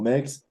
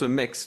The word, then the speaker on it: MEXC: Donc voilà, alors tu le prononces Mex, toi, parce que je savais pas comment le prononcer, je disais MEXC, tu vois, parce que ça s'écrit comme Ouais, ça, pour ceux qui nous écoutent, ouais.